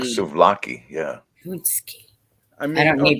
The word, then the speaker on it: paczki: Punchki. I mean, I don't need to okay, spell it.